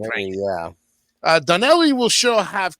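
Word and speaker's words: 'Ndrangheta: I think the N is silent, so that's why I went Drangheta.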